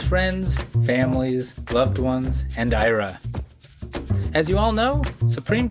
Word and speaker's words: Ira: Ira Kursban on the Immigration Review Podcast. Ira Kursban. Is is it pronounced Ira?